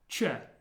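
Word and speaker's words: Ч: The first one is pronounced che. Che. As in watch. Che. Like a CH sound.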